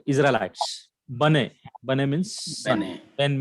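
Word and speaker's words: בני: Bene. Bane. Okay. Or we can say Bene also. Bane. Ben means yeah. Ben means son. Bane Israel. That is Bane Israel.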